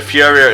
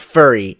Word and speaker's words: Furia: It's not furry, as I've seen people actually legitimately pronounce it. Ugh. I mean, there's one R. You know, English works a certain way.